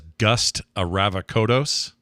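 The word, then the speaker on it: Gust Avrakotos: He was extremely good as Gust Aravakodos.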